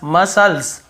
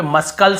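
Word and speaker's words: muscles: यहां पर भी देखिए मसल्स मसल्स मसल्स यहां पे मस्कल नहीं पढ़ रहे यहां पर भी सी सेलेंट है फिर देखिए सीजर्स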